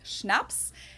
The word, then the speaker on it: Schnapps: alcohol culture in German we spell it like this and say Schnapps and it means hard